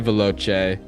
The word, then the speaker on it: veloce: "Vai veloce" is how I'm choosing to pronounce that CE at the end of that word. It is how it's supposed to be said.